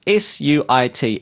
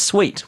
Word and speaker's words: suite: also learned that the English word meaning of suit originally came from the French word sweet meaning to follow so here's me going oh it's probably pronounced It's s UI t e I went with either it's pronounced suit